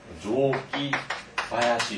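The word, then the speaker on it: 雑木林: 이때 잡목을 뭐라고 읽냐면 조기바야시 이렇게 돼요.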